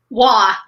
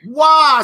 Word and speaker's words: Waugh: The one, the only, Hanna, help me pronounce the last name. Waugh. Waugh, so easy.